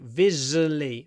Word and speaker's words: visually: stunning structurally unsafe visually just be careful because it's visual sometimes people want to say visual you don't need to visually V forget about the UA it's just an uh Vis v v Vis and do a long V at the beginning to Mark the stress visually visually stunning visually